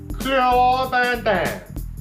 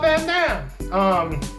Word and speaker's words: Van Damme: corrected, and I found out that it is pronounced Jean-Claude Van Damme, right?